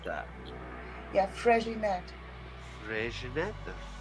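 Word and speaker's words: Freixenet: Yeah, Fréginet. Fréginet? Is it J or an X? Fréginet, that's an X.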